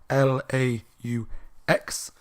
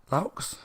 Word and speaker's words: Laux: author called Connie Laux, L-A-U-X, Laux. I really have no idea how you pronounce it. I'm going to go Laux. Laux sounds like the most, that seems like the right way to pronounce it.